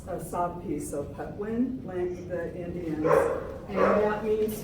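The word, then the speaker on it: Patwin: that lived here before us the pwi um it's spelled p w i n but that it's a sof piece of petwin the Indians and that means people in their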